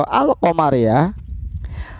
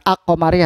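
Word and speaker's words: القمرية: Alif Lam Qomariah atau Al qamariyah adalah dengan membaca al-nya secara jelas tanpa meleburkan bacanya ini sesuai dengan namanya alqamariah hanya dibaca jelas bukan ako Maria tapi al-qamariyah sebagai salah satu contoh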